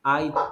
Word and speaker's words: IT: the IT department do at that. Okay, good. And the pronunciation, Joshua, is IT, not AT. It's IT.